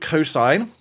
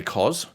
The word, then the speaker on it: cosine: One is called cosine, or we say cos.